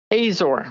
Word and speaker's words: Azor: your last name was uh I believe it's pronounced Azor is that right Azor Azor so my my mother uh her maiden